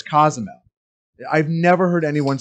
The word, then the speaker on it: Cozumel: he's going to cozumel where the hell is cozmo it's cozumel i've never heard anyone